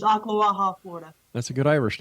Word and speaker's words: Ocklawaha: It's Ocklawaha, Florida.